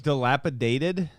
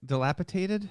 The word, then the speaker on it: dilapidated: again why is this city bringing in RVs dilapidated yeah that's how you say it dilapitated no it's not dilapitated okay I thought it was dilapitated I've always